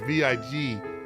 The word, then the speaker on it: Viguié: We are talking with New York Bestselling Times author Debbie Viguié. I'll spell it out. It's Viguié. Viguie.